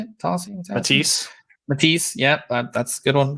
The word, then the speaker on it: Matisse: Matisse.